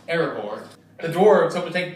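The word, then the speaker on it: Erebor: their journey to reclaim earbore the dwarf's home which was destroyed and taken over by the great dragon smob by the way calvin it's pronounced aragor the dwarves hope to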